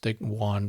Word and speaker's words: Joan: It's spelled Joan, but it's Juan Valdez.